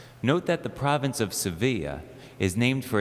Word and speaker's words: Sevilla: in many different languages in Spanish it's called Sevilla in English it's sevil it's the capital of